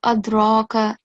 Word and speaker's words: أدراك: So, first of all, don't forget to perform the kalkala. So, instead of adraka, make a jerking sound, okay?